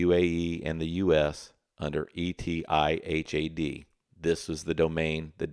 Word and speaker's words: Etihad: The second case, I believe it's pronounced etihad, it's etihad.ai.